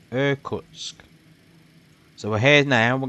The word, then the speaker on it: Irkutsk: have one other plane here called, let me pronounce it correctly, Irkutsk.